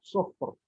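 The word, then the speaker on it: صفر: Sufur. Ka'annahu jimalatun sufur. Kenapa dibaca tebal? Karena sebelumnya sukun, sebelumnya dhammah.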